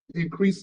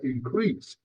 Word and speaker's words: increase: When increase is used as a noun, the stress is on the first syllable, so we pronounce it increase. But when this word is used as a verb, the stress is on the second syllable, increase, then it is verb.